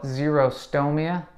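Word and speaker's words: xerostomia: mouth we call it zero stow Mia that's spelled with an X and zero stow Mia is really a huge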